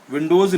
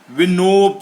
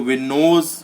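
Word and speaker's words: winnows: विंडोज यानी होता है विंडोज विंडोज नहीं है यह विनो है विनो विंडो की स्पेलिंग विनो है उड़ाकर फेंकना नोप्स यानी उड़ाकर फेंकना अगर कहीं आया हो देख लीजिएगा कहीं मैंने विंडोज का ही प्रोनाउंस ना कर दिया हो डब्लू I double N ओ डब्लू एस डब्लू I double N ओ डब्लू यस है अगर तो विनोज होगा उड़ाकर फेंकना जॉइंट जॉइंट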